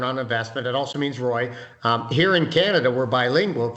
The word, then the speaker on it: ROI: And my dad's name, the founder, is Roy, so we pronounce it Roy Corp. Roy Corp. So he was ROY?